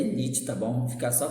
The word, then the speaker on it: Nietzsche: No final do século XIX, por exemplo, um filósofo alemão chamado Friedrich Nietzsche, a pronúncia é Nietzsche, tá bom?